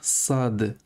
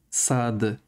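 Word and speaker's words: صاد: Aujourd'hui, on va attaquer la lettre Sad. Sad. Donc, Sad, ça s'écrit comme ça. Et c'est. Il n'y a pas vraiment d'équivalent en français. Alors, en français, on a le S.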